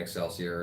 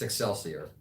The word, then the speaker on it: Excelsior: eight ten eleven sassier which is cross between Excelsior and success yeah I figured success here it's excelsior excelsior yeah I just mispronounced it okay but that's where you pretty